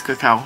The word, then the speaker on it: cacao: This has cocoa nib in it, or cacao nib, which is it's not actually cocoa, it's cacao. It's cacao nib.